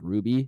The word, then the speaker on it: RWBY: and stuff they have another anime called ruby which is pretty popular um and then this one is that there's one that's spelled rwby yep okay uh and then